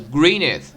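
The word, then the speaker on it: Gwynedd: A message from Alan 啊，Alan 是那个什么？这里其实很复杂，光这一段就从那个 Philip 的名字到时候会出来。Philip 后面那个就他的这个姓名字不是 Philip 对吧？Philip of 什么什么，后面那个是姓那个姓的念法是 Greeneth 就弟弟，是以弟弟结尾的。但那个弟弟发音其实是应该发那个 father 跟 mother 那个 th 的音的，是念 z 的，所以是 Greeneth。这很明显不是英文单词。但呢，也不像什么法文了、意大利文了，因为这里它是涉及天主教，对吧？天主教呢，肯定要涉及到罗马也提到罗马帝国了，但并不是意大利语。那什么语呢？其实是威尔士语。所以这个 Philip 他是威尔士人，然后这个头 Jack 这红头发呢，很明显是凯尔特人。凯尔特人是住在苏格兰或者爱尔兰那边。那至于剩下这几个，比如说艾丽呢，他既然是贵族名门望族那肯定就是英格兰人。所以这里其实也涉及内战。UK 喜欢搞内斗，应该是有名的。Cub, I need to talk to you.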